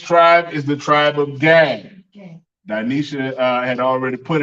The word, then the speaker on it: Gad: It's pronounced Gad. Gad is pronounced God. God is God. God in the Hebrew.